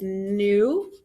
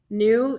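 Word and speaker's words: nous: have we which is new new not new it's pronounced like new like i'm buying new shoes today so new then we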